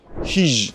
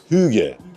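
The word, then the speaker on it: hygge: Hij diye okunuyordur umarım. İki tane rica edelim. Tam olarak nasıl okunuyor? Hijb. Hüge. Bayağı yanlış okumuşuz ya.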